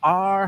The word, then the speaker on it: our: It's not ours, our house, our. ¿Ves? Es una sílaba.